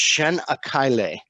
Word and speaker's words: Çanakkale: And Képes is actually the town that we dock in, but there's a town right next door, and it's pronounced Çanakkale. And Çanakkale is home.